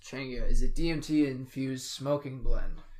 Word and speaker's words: Changa: pronounced Changa, is a DMT-infused smoking blend.